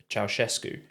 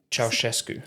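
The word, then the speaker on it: Ceaușescu: How are you pronouncing that? Ceausescu. Oh, is that right? Yeah. Okay. So I'm not sure that was a popular pronunciation in the UK. Was it not? Ceausescu, I think we would have said.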